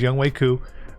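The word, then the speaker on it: Younghoe Koo: special teams we got young wei ku that's how you say his name is young waiku uh gold diggity kicker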